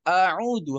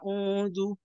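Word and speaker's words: أعوذ: Jadi itu kan auudu harusnya kan auudu satu harakat ya. Jadi karena dia mengenak-enakkan dia baca audu.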